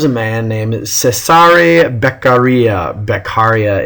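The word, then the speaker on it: Beccaria: man named cesare beia beara is how we usually hear it pronounced he is a philosoph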